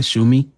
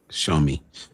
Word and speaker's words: Xiaomi: How you say it? Shumi? Xiaomi. Shumi? Show me. The show me.